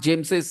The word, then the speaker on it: James's: But here we pronounce James's sons. Yep, exactly, exactly. We pronounce here James's sons. Here we say for Jesus' sake.